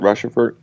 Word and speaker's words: Rochefort: 8, and it's got is that how you pronounce it, Rushford?